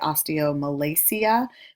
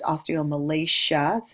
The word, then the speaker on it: osteomalacia: Some people say osteomalacia, which is wrong. It's osteomalacia. It's a SH sound.